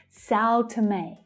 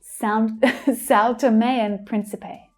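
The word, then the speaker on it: São Tomé and Príncipe: So we have Sao, Sao, that's the ow as in now vowel sound. Sao, Sao, t. So that t is unstressed. You can see the schwa there. May is stressed. It sounds like a as in day. Sao Tome, Sao Tome, Sao Tomean, and Sao Tomean Principe. It kind of rhymes.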